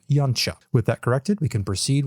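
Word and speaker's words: Yautja: thus gotten himself confused the actual pronunciation of the most used species name for the predator species is something like yancha with that corrected we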